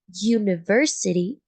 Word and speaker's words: university: but on the contrary if you have University it is pronounced you and you can say